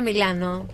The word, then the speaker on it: Milano: Qué mala en pasa, italiano se dice Milano.